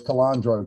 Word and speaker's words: Calandro: What Tracy and Brian have put together, and with Blackness Jack and Mike Calandro. That's how you pronounce his last name, right? His name is I think Calandro. it's Calandro.